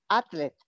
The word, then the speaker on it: athlete: Y la pronunciación de atleta, athlete. Athlete. TH, athlete. Athlete. Athlete. Yes, la TH, athlete.